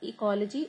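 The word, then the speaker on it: Oecology: And he was the person who wrote the first book on ecology, which is called Ecology, O is silent, Ecology of Plants.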